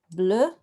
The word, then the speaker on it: bleu: So I would need a B, and I need an L, okay? And then I need an EU, and then I can quickly create that word, bleu, not very straight there,